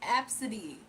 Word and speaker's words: Abcde: The other one, her name was Absidy, but her name is spelled ABCDE. Her name is Absidy.